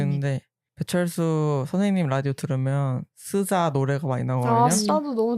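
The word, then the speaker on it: SZA: 발음. 스이자.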